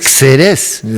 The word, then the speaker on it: Xerez: En este caso era Jerez, Francisco de Jerez, y ojo, ese Jerez se escribe con X, no con J, Xerex. Xerez, porque es así la ortografía de la época, ¿no?